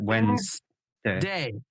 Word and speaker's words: Wednesday: it would but you you don't pronounce it like this you pronounce it Wednesday it's two see that's why I